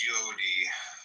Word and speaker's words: Yod: Comment on yod y pronounced yodi transcribed as I y the number 10 meaning creative and the intelligence of the will.